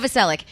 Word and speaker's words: Novoselic: directly behind us are Dave Grohl and Chris Novoselic. Close enough. How do you say his last Novoselic. name? Novoselic.